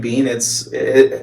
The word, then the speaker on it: Bien: But my last name Bean, my last name Bean, I know it's spelled like the Spanish word, but it actually means bumblebee in German.